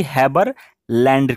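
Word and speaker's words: Haberlandt: Spelling यहाँ पे बिल्कुल ही सही है, आप कंफ्यूज ना हो, ये यहाँ पे टी है लास्ट में और वो साइलेंट रहेगा, ठीक है।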